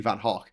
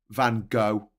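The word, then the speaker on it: Van Gogh: the uh the the painter Vincent Van arguably van Haw van go again like there at all the time I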